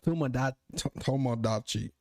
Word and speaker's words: Tomodachi: Tomodachi.